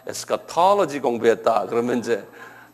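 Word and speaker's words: eschatology: 그래서 요 액센트가 어디냐면 에스카톨로지에 있어요. 톨로지 여기 한번 발음해 보실래요? 에스카톨로지.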